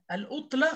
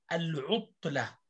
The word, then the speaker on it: العطلة: حاول أن لا تقول العطلة خطأ، العطلة.